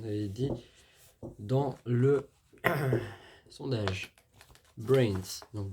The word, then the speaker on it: BRNS: Alors aujourd'hui, on va parler de brains comme j'en avais dit dans le sondage Brains. Donc B RN S prononcé Brains, référence aux phrases cultes des zombies de film d'horreur se forme autour de noyaux de team clisters.